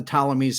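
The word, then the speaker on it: Ptolemies: we get Cleopatra okay these are the talomeies spelled with a P in front right right okay so this was a line like like pterodactyl right or parman so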